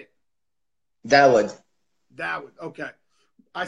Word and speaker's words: Daoud: Daoud.